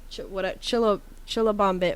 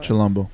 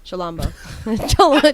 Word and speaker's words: Chilombo: Album of the year: Janae Aiko, Chilabombo. I don't know. Chilombo. Chilombo.